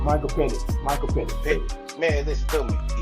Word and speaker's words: Michael Penix: How you pronounce his last name? Michael Penix.